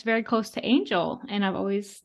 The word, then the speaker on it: Angela: I actually never realized Angela Angel because it's such a different pronunciation yeah wow it's basically angel with a a I love that does